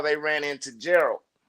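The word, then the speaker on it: Geralt: how they ran into Gerald. And uh I also realized I've been saying his name wrong for the longest. I say it with a D at the end instead of a T.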